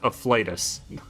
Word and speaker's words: afflatus: Sorry, it's pronounced afflatus.